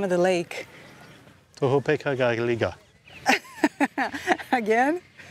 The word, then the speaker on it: Tohopekaliga: Tohopeka-ga-liga. Again? Tohopeka-liga.